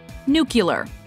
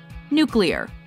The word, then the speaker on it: nuclear: Connery Tova number six nuclear common mispronunciation nucular correct pronunciation nuclear new killer it's been a new yellow a word so commonly mispronounced that several dictionaries have addressed the discrepancy the inconsistency between nuclear and nucular may be influenced by the pronunciation of common English language words like ocular particular and circular I believe that under